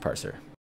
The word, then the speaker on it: Parccer: And it is pronounced Parccer.